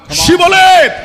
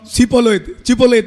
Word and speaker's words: Shibboleth: ஷிபோலேத், Shibboleth. இப்போ நீங்கள் ஒரு காலம் சிபோலேத் என்று சொல்லக்கூடாது. அது அவர்களுக்கு அந்த எப்பிராயிமருக்கு இந்த ப்ரொனன்சியேஷன் வராது, உச்சரிக்க முடியும்.